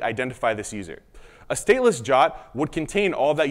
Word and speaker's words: JWT: stateless jaat is now that acronym JWT is often pronounced this jot I'll use those terms